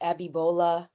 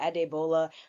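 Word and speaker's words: Adeola: I haven't given princess abiola adola I keep pronouncing her name so wrong it's Nigerian but at deola her own room yet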